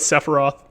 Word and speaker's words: Sephiroth: Actually, it's probably supposed to be pronounced Sephiroth. It's just like spelled funnily. So we're going to go with Sephiroth. Sephiroth, not TH, it's an F at the end, Sephiroth.